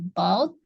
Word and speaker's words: bought: Ya, jadi GH-nya nggak usah dibaca silence ya. I bought a few Oh, bacanya about apples.